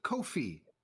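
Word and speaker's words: Ko-fi: do you pronounce it it rhymes with no fee so Kofi is how it is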